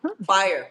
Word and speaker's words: P Fire: You can just the P is silent. Fire.